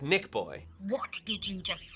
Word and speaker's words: NichBoy: It's pronounced NichBoy.